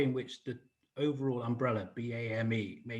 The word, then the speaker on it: BAME: simple um you know bame has got one syllable b-a-m-e has got four